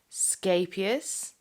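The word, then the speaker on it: Scheepjes: The brand of yarn that I'm using is a Dutch brand, and I believe the correct pronunciation is Scapius, which means little boat in Dutch.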